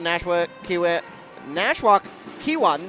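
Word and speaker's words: Nashwauk-Keewatin: they have as I mentioned beaten hankley phis Nash Ki nwok kwat that's how you say it and northeast range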